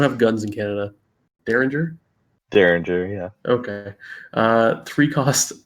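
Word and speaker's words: Derringer: Uh, did I pronounce that right? We don't have guns in Canada. Daringer. Daringer.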